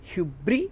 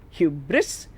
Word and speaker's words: hubris: repeat according to aristotle it could be hubri hubris if you pronounce the s h-u-b-r-i-s it means pride